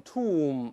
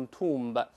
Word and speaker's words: tomb: 你像我们说那个什么坟墓 tomb，咱们都是 tomb，不能读 tomb。